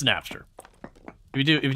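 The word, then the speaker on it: Knapster: That's Napster. Uh spelled with a K. So K A or K N A P P or it's whatever. It's Napster.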